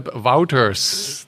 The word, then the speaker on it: Wauters: hello there I'm sitting here with Phillip philli wouters that's I believe the right pronunciation Philip right that's right from tangent work